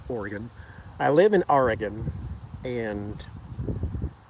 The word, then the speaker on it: Oregon: agenda though but no I live in Oregon pronounced Oregon I live in Oregon